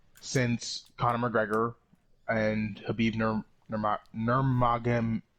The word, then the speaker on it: Nurmagomedov: or fight rather, since Conor McGregor and Habib Nurmagomedov.